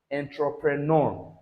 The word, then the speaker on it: entrepreneur: So this sound will end that word. Okay. Remember that when you are pronouncing this is entrepreneur.